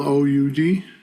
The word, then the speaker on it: oud: on guitar Mandola and out I think it's pronounced oud actually is it spelled o u d yeah yeah it's oud okay and then uh